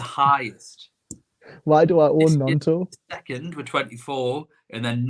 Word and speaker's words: Gnonto: Nonto. Is the G silent? The G, I believe the G is silent.